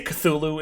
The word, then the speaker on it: Cthulhu: They say Cthulhu in the movie. Cthulhu. Okay, yeah. that makes it official. It is Cthulhu.